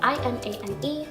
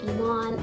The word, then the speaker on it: Imane: So my real name is Iman, it's spelled I-M-A-N-E. In English it's kind of said Iman, in French it's Iman. Iman. Iman. And in Arabic it's Iman, it means faith.